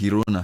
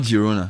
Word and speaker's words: Girona: It's pronounced Girona. Yeah, I believe so. It's not Girona. I believe there's a difference. You know, it's a different.